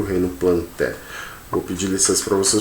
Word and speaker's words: Plantae: plantae ou metaphyta tá alguns alunos eles falam um reino plantae mas a pronúncia certa gente é reino plantae hum o reino plantel